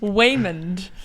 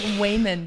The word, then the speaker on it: Waymond: Man of Mystery but it sounds like Waymond is how you would say his name okay now that's going